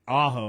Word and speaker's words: Ajo: So ALA did lose on the road to Ajo, I think is how you say it, AJO, 54-8, and they're going to be taking Sequoia Charter on in their next game.